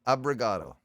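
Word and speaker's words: obrigado: It's But pronounced get fucked. abrigado.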